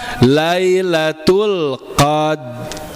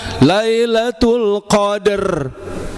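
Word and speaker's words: ليلة القدر: Tapi kita langsung tempel lidah kita tanpa bunyi, tanpa ancang-ancang ya. Berarti apa? Lailatul qadr. Lailatul qadr. Lailatul qadr. Ya, jangan lailatul qadr.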